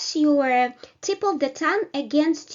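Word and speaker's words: ю: above it right and the letter is your your which is also produced with a small uh gliding at the initial position you you like in English word your right so the next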